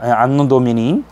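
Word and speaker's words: Anno Domini: 그래서 안노 도미니라고 읽어야 돼요. 안노 도미니. 라틴어 약자거든요.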